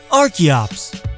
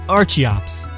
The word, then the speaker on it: Archeops: Archeops. Named after and based on the Archaeopteryx, so not Archeops.